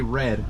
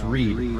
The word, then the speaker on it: Reed: I always say Red, but it's Reed.